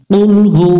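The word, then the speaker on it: قل هو: কুল মানে হচ্ছে খাও এখানে একটু আমরা গলার মধ্য থেকে একটা আওয়াজ দিয়ে আমরা এই অক্ষরটা সুন্দর করে উচ্চারণ করব কুল হা পেশ হু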